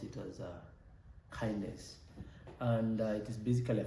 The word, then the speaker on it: KINDNS: spell it as uh K DNS and we pronounce it as uh kindness and it is basically a framework for DNS